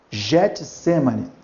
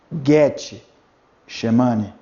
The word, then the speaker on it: Getsemane: Getsemane, não. Seria Getsemane. Getsemane.